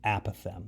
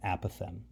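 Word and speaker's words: apothem: at a right angle it's called the app of M that's how you pronounce that word a path M so the area of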